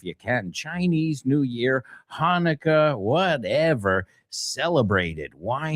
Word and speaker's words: Hanukkah: Also, my friends, my Jewish friends, mis amigos judíos, that celebrate Hanukkah, aunque se escribe con CH, se pronuncia Hanukkah, they get 8 days of presents.